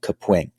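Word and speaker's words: Kapwing: use a software called caping it's spelled like caping but with a K so k a p wi n g I think early on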